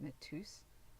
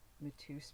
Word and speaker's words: Mateus: Right here, this is I think you pronounce it Mateus. It's like a vintage Mateus bottle, which is a vintage alcohol bottle.